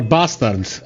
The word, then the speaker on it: Bastard: Theodore Bastard, or Bastard, according to how he pronounces his name.